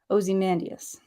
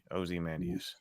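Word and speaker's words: Ozymandias: certain pronunciation o zus so it's O not a ozy mandus oim mandas yesus okay so oie like not aie like Osborne oie oie mandus okay I'm try to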